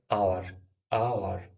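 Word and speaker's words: hour: সেখানে এইচ থাকে সাইলেন্ট যেমন এইচ আছে কিন্তু উচ্চারণ হয়নি এখানে কি হয়েছে আওয়ার আওয়ার তাই এখানে এন ইউজ করা হয়েছে উচ্চারণ করছি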